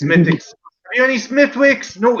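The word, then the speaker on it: Smithwick's: the americans used to come in looking for smithwicks it's it's mythics are you any smithwicks no it's it's it's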